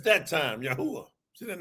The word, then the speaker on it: Yahweh: Say Yahweh. And then you'll go, that's how you pronounce these ancient Hebrew letters.